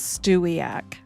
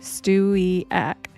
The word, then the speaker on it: Stewiacke: So for all you guys that don't know how to pronounce that, not that it matters, who cares? But it is Stewiacke, okay? Stewiacke.